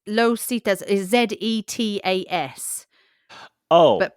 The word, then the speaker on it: Zetas: apparently it's pronounced with an S.